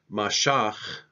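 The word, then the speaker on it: משח: Hebrew term for anoint Masha is how you say anoint he anointed in Hebrew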